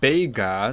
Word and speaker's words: Bega: spelled it's a mess Vega's name is technically written like this which is pronounced bega so I can't blame